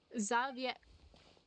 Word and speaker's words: Xavier: Xavier. Okay, I guess I was pronouncing his name wrong the whole time.